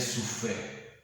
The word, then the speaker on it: sufete: Te dije, el sufé. Se escribe sufete.